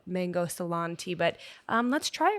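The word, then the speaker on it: Ceylon: And I we were debating cuz it's the salon is spelled C E Y L O N. So we're like is it salon? Is it Keon? What is it? But it's Salon and it is the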